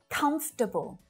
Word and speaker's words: comfortable: Comfortable. Comfortable. So it's not comfortable, but just comfortable.